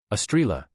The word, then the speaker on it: Estrela: Estrela, he said clearly, pronouncing it exactly as the communicator had finally taught him, with a musical lilt on the second syllable.